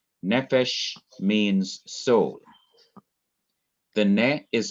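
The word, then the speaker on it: נפש: here is another example the word nephesh this is noon SE that's one syllable then the final syllable is is um f p h e or Fe and then Shin so you have nephesh and here you have an open syllable consonant followed by vowel and in the Hebrew you'd see the accent over this open syllable the accent usually comes on the last syllable but if it comes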